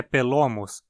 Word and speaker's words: Pelomus: A pronúncia do nome muito provavelmente é Pelomus, pois meu palpite é de que a segunda parte do nome, homus, venha do grego homos, que significa ombro.